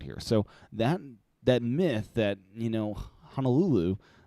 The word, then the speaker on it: Honolulu: So that myth that, Honolulu, or I guess it's not pronounced that way, but Honolulu in Oahu is actually not that much more expensive, especially when you compare it to the West Coast.